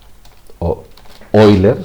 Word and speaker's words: Euler: es el número o número de Euler oiler si queréis pronunciarlo mejor y que es aproximadamente